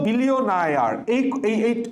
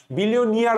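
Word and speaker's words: billionaire: আচ্ছা, বিলিয়নায়ার, এই টপিকটা খুবই গুরুত্বপূর্ণ। দেখো এই জায়গায় যেই সমস্যা হচ্ছে লি। এখানে কাহিনীটা এভাবে পড়বা, দেখো যারা বিলিয়নায়ার বা বিলিয়নিয়ার আমরা বলি, কিন্তু উচ্চারণটা হচ্ছে বিলিয়নায়ার।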